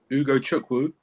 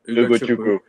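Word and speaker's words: Ugochukwu: the new signing, Leslie, and say it with me, guys, Ugo Chukwu. It's very easy to pronounce. Ugo Chukwu. So you don't have to say Leslie anymore. It's Ugo Chukwu.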